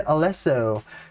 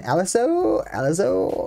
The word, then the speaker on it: Alesso: Italian pronunciation, Alesso. I feel like I'm saying it right.